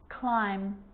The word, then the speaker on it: climb: with the letter b it's always silent when it follows the letter m climb crumb lamb thumb dumb and plummer so practice them with me i'm not pronouncing the b i'm just pronouncing the m consonant sound climb crumb